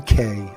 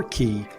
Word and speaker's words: Cay: out is Half Moon Cay or key however you would like to pronounce it but this is an